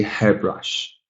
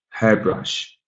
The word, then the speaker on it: hairbrush: pronunciation is fairly equal, but usually that stress falls a little bit more on the first syllable. So we say hairbrush, hairbrush.